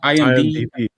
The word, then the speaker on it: IMDb: How you fucking pronounce that? IMDb.